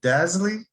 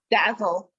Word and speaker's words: Dazzle: Is it Dazzly? Dazzle. Dazzle. That's even better.